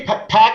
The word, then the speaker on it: Park: sir Park um am I park or pack what what is your name part actually pack is is the the Korean way you would pronounce it like yeah I look I'm looking because I can't read the font on the screen I'm like did I type pack it's Park good pack would pack pack